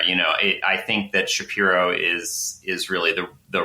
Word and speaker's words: Shapiro: know I think that Shapiro is is really the right way to say it and Shapiro is some sort of Ellis Island deviation and that's that's that's